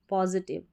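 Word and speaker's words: positive: And maintain, maintain जो भी बनाए ना उसको बनाए रखना, मेंटेन करना, मेंटेन अ पॉजिटिव, TIVE को टिव पढ़ना है, टाइम नहीं पढ़ना है, पॉजिटिव यानी कि सकारात्मक, सकारात्मक या फिर अच्छी भी बोल सकते हैं, ठीक है।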